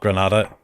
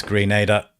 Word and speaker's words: Grenada: Somebody in the chat just telling me that it's pronounced Grenada, so my bad. Not Grenada, it's Grenada.